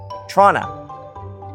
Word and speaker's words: Toronto: The big city in Ontario is pronounced Toronto. Nobody says the second T except Americans.